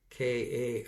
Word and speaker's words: Kaifetz: I'm going to give you the Hebrew pronunciation of that word. Delights is Kaifetz. Maybe Kaifetz. That's my last name. Kaifetz.